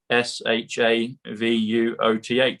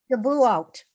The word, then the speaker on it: Shavuot: It comes to sovereign, comes to trump card, and it comes to SHAVUOTH. And I can't pronounce it properly yet, but it comes to the book that Roseanne shared with us at the beginning.